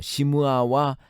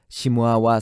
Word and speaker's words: 시므아: 시므아와 삼마는 발음 차이에 불과합니다. 히브리어는 시므아와 같이 마지막 철자가 아로 끝나는 아인의 경우 그것을 발음하지 않습니다. 그것을 문법적으로 목에서 나는 소리이기 때문에 후음 문자라고 합니다. 대신에 그것을 보충하기 위해 앞에 자음을 중복합니다. 즉 시므아에서 아가 탈락되는 대신에 미음을 중복시켜 삼마가 되는 것입니다. 그러므로 히브리어 발음 원칙에 의하면 시므아가 정확한 철자이고 삼마는 소리 나는 대로 철자를 적었을 가능성이 높습니다.